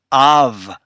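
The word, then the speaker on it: אב: okay it's C of remember the olive is silent so you only have the a for the first letter and the second letter is the vet with the V sound you put them together and it's of father and the third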